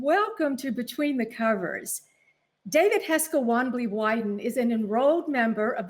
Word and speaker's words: David Heska Wanbli Weiden: And I hope I pronounce things almost correctly. You did it perfectly.